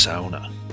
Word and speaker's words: sauna: the word is pronounced SAA with a dip thong drawing out the transition from the a to the U similar to sauerkraut and distinct from fraud SAA is the one